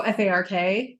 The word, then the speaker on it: Fark: Oh, FARK? Is it just FARK? I believe so. Oh. Or is it Farque? No, it's spelled F-A-R-K. Okay, that's what I'm saying. Is it pronounced? I think it's Fark.